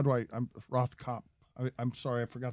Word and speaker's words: Rothkopf: sounds good to me the f at the end is silent yes well not really but it doesn't matter okay how's it feel we'll keep this all in dan david rothkopf please uh fair play